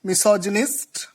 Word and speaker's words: misogynist: When you pronounce this root word in a separate way, you pronounce it Gain. But when it is used in a word, the pronunciation changes to Jin.